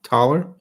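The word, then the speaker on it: Thaler: Tyler th l ta th e le are taller which was actually in German it's a taller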